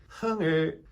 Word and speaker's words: 흥: My name is 흥민. 흥. 으 sounds like put.